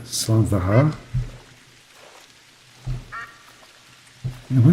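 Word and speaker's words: slàinte mhath: I believe it's pronounced Slan Vahar.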